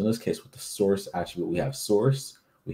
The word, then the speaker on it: src: is the src attribute we just pronounce it as source because that's what it's short for um so what to